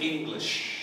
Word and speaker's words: English: ya ya atau English tapi English English huruf g-nya itu seperti ditelang di sini kemudian ada SH G dia Ya english english ya